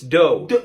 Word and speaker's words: dough: Okay, well then this must be do? No, come on, that's like the first one. It's dough.